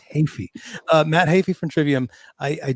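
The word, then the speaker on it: Heafy: I went on to interviews and got the pronunciation right. I just didn't say it right just now. It's Hafey.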